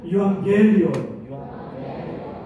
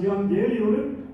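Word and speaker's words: εὐαγγέλιον: 유앙겔리온. 여러분 발음이 너무나 좋아요. 유라는 말은 좋다, 복되다. 제가 노란색으로 하이라이트 했죠. 앙겔리온은 소식이라는 뜻입니다. 따라서 유앙겔리온은 좋은 소식, 복된 소식입니다.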